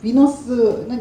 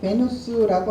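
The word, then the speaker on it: Venus: 비너스는 영어식 발음이고 베누스라고 하고요. 그 다음에 그리스 시대에는 아프로디테라고 했고, 베누스라는 거는 로마 시대에 불렀던 이름이죠.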